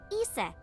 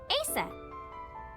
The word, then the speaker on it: Isis: horse's mom is named isis but in ancient egyptian it's pronounced closer to isa or asa hmm asap how do